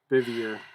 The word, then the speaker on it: Bevier: Yep, Bevier. Yep. Bevier. Like beaver.